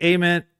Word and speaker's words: Ament: It is not silent. It's not silent. It kind of sounds silent when they first It does sound. Yeah, it does. But it's not. Ament is the right way to say it.